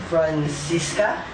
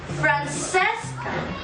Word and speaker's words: Francesca: Francisca? No, Francesca. But why Francesca? You know that in New York, people call her Francesca. That is how Americans pronounce her name.